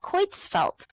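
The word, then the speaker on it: Creutzfeldt: Okay, it is pronounced how it's pronounced. Thank you so much. I would have never known. I really appreciate that. Quitzfelt.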